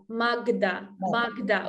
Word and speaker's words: Magda: Magda with Ukrainian G.